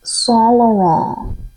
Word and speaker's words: Saint Laurent: Saint Laurent. That's how it's pronounced.